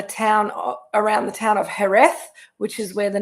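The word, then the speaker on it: Jerez: is from the town around the town of herth which is where the name Sherry came from spelled j r e z pronounced herth manania manania and um we'll talk about why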